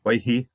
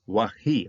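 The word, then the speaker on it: ויהי: So waihi, okay, should be wahi. Okay, I've got to check the Bart sounding of this one. So it's a very minor point of pronunciation. Doesn't change much whether you do it one way or the other.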